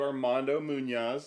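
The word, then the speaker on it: Armando Muñoz: Well, so we've been talking to Armando Munoz. Is that the right way to pronounce it?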